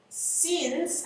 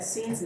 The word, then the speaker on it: since: She had been waiting since, acuérdense que se pronuncia since, no since, ya se los he dicho también.